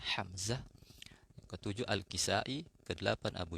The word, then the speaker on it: Hamzah: kelima Imam Asim, yang keenam Hamzah pakai ha ya bacanya Hamzah, yang ketujuh Al-Kisai, kedelapan Abu Ja'far, kemudian yang kesembilan Ya'qub, yang terakhir adalah Khalaf Al-Ashir ya.